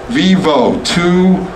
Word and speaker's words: Vivo: It was literally, I said, Vivo, two syllables, sounds cool, let's do it.